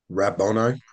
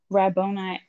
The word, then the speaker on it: Rabboni: Rabboni. Rabboni.